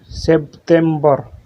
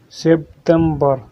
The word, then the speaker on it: سبتمبر: In Arabic, we pronounce it سبتمبر. سبتمبر.